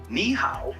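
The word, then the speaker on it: nǐ hǎo: pronounce that meet you niow is pretty straight forward to pronounce it sounds like me how just make sure to keep the KNE part high and then go down and pitch on the how the model clearly makes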